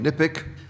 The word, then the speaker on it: NIPCC: NIPCC can be pronounced in many ways. I keep calling it NIPIC, but you can call it anything you wish.